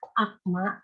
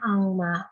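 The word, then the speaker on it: 악마: Lalu kata yang kedua ada akma. Di sini G kan harusnya bacanya akma, tapi ada tajwid jadinya angma. Karena yang tadi seperti yang di atas, konsonan G kalau ketemu M jadi eng.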